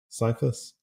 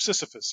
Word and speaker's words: Sisyphus: from tears of cephas sorry cyclist is that how you pronounce it uh tears of Sisyphus yeah okay I always miss a syllable where's the weirdest place